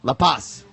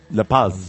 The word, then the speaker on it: La Paz: La Paz. Do you say the S? Yeah, well, you say the Z. La Paz.